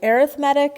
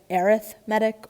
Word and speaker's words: arithmetic: of an arithmetic sorry arithmetic is another way of pronouncing it arithmetic or arithmetic i kind of bounce back and forth between the two um here with this